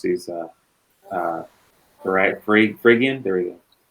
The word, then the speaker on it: Phrygian: such as White Rabbit being I always can't pronounce these, Phrygian? There we go. Phrygian, there we go.